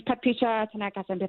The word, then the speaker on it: Paticha Tanaka: Pat Picha Tan just tell me tell me how to pronounce your name, please. Hi. Uh it's Paticha Tanaka reporting from Bangkok. Oh, just how it's spelled.